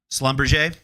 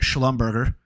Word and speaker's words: Schlumberger: you've probably heard of Slumber we had to YouTube that three or four years ago to make sure we were pronouncing it right because we were calling it Schlumberger it's a French company